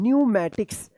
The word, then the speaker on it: pneumatics: अब देखिए यहाँ पे PNEUMATICS क्या पढ़ेंगे? न्यूमैटिक्स। क्या पढ़ेंगे? न्यूमैटिक्स। यहाँ पे भी पी साइलेंट है, न्यूमैटिक्स।